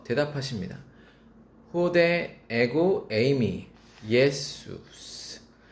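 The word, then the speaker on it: Ἰησοῦς: 예수스. 헬라어로 예수 한글로 예수라는 단어가 헬라어로 발음이 예수스입니다.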